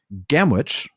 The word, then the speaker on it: Gamwich: Gamwich, I pronounced it that way because that's how it's spelled, but then he puts in parentheses pronounced gamage, so that's how we pronounce gamage. It looks like Gamwich.